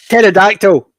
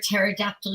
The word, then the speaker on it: pterodactyl: Why can't you hear a pterodactyl urinate because the P is silent?